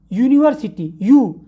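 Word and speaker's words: university: तो कैसे करते हैं यू यूनिवर्सिटी टाइम क्या होता है आपके दोनों लिप्स राउंड शॉप में ए जाते हैं यानी यू are using your lips Vile pronunciation यूनिवर्सिटी का उसे होता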